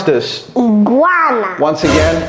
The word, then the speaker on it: iguana: Iguana. Once again? Iguana. Again. Iguana. Okay. Iguana. Donc, c'est pas I, c'est I. Okay? C'est pas I, c'est I. C'est pas iguana. Okay? It's not iguana.